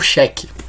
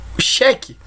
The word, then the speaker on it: xeque: importante do jogo que é o xeque xeque esse que se escreve com a letra x né tem uma curiosidade do xeque no xadrez né então vamos lá é cheque qual o significado da